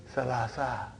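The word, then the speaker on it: ثلاثة: But in pronunciation we will say salasa, salasa, arba'a.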